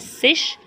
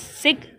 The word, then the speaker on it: zig: Many people will be pronouncing sig, Z-I-G, as sish, as sig, as sick, depending on the kind of place in Germany they live. In Western Germany, people use sig.